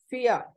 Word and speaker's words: vier: Fear, V-I-E-R. Here you are noticing V takes a sound of F, whereas V is separately called as foul. So VIER is for fear.